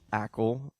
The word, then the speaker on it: Acle: local this is nicole ackel is that that's correct pronunciation of your name or not exactly actually okay it's cuban it needs to have that little accent at the end exactly okay so it